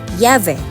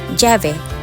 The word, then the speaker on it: llave: And the pronunciation varies from country to country. For example, in Spain, it is pronounced as llave, but in Costa Rica, it is pronounced as llave.